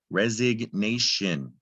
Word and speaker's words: resignation: We hear the G now, resig. It was silent before, resignation.